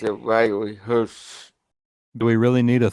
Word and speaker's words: Herbst: Hurts. Yeah. I pronounced it Riley Hurts.